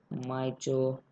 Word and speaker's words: mitochondrion: Actually the zigzag part is not only the mitochondria, the whole part is mitochondrion.